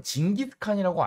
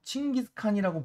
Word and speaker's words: 칭기스칸: 몽골 제국을 만든 사람이 사실상 가끔가다 징기스칸이라고 알고 있는 친구들도 있는데 요즘 같은 경우에는 좀 발음을 살려서 칭기스칸이라고 부르는 것이 정식 명칭이니까 꼭 알아두도록 합시다.